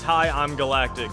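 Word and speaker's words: HighImGalactic: also didn't recognize that the second eye was actually an ie I think I called him H Galactic yeah that's it's high I'm Galactic so I was uh I was informed that I was mispronouncing his gamertag last tournament but High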